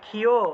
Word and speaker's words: ক্ষ: কি হয়ে থাকে তা প্রথমেই খিয় এটাকে খিয় বলা হয় ঠিক আছে ঠিক আছে